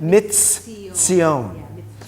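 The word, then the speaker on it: מִצִּיּוֹן: So you're to imagine two tsadis side by side. So you really pronounce it mitzion.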